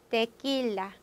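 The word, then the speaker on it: tequila: 자, 꾸는 깨소, 데킬라. 그래서 깨, 끼. 자, 이렇게 딱 두 개 발음이 있다는 거 꾸에꾸이 하시면 안 되는 거죠.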